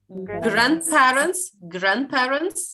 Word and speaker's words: grandparents: Grandparents? A little. No, the E we don't hear. Yes, grandparents. Yeah, D we don't hear.